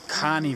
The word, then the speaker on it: Kani: Okay, so last night we arrived pretty late after dark into the Kane village, or Kani village, as we now learn it's actually pronounced, which is good because there's another village right next to it called Kandy.